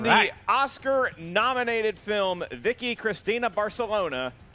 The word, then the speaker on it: Barcelona: You're both pronouncing Barcelona wrong. It's Barcelona.